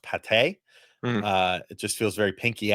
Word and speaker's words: Pate: First off, I'm really disappointed his last name is not pronounced Pate.